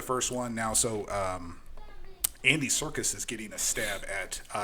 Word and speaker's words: Serkis: You know who Andy Serkis is? Is he involved in any circus? No, is he a circus clown? You would think so. It's spelled Serkis.